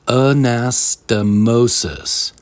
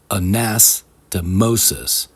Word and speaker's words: anastomosis: The five-syllable word is pronounced anastomosis. The second and fourth syllables, nas and mo, are stressed or accentuated. Anastomosis.